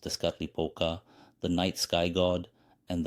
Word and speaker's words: Tezcatlipoca: Tezcatlipoca, pronounced Tezcatlipoca, the night sky god, and the other was Quetzalcoatl, the wind god.